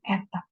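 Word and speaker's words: η: Jadi itu bukan M ya, itu eta. Jadi eta itu sebenarnya udahlah N aja.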